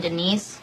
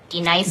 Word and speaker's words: Denise: Do you mean Denise? Son of a bitch! You say your name right, right now. Denise? Say it right. Denise. Correctly. Denise. Right. Denise. Right. D-Nice. That's better.